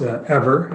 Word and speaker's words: Eivor: Yeah, we're pronounced ever as an energy forever. Everyone makes the same mistake.